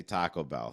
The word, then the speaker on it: Taco Bell: has a problem with the way I say Taco Bell he thinks uh put the he thinks I